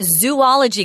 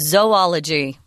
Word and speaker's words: zoology: But notice it's not zoology, guys. It's pronounced zoology.